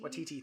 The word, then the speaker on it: Waititi: I always say his last name wrong. Taika Waititi? Waititi, thank you.